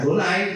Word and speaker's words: Adonai: dengan huruf besar ya kalau orang Yahudi bacanya adonai kita bacanya Tuhan dengan